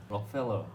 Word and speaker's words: Rockefeller: 근데 보면은 그 원어민들이 발음하는 거 보면 묘하게 록하고 펠러 사이에 커가 살짝 들어가더라고요. 한번 해주시면 안 돼요? 록펠러. 그러니까 그렇게 네. 로커펠러처럼 들리더라고요.